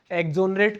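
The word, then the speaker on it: exonerate: एक्सोनरेट का मतलब ये है, बोला जाएगा एक्सोनरेट, एक्सोनरेट, एक्सोनरेट, एक्स नहीं बोला जाएगा।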